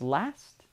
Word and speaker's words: last: This is important because if your tendency is to use the katakana pronunciation of dasto, it's very difficult for English speakers to understand this difference. So if you practice rust versus last, this vowel sound will help your pronunciation.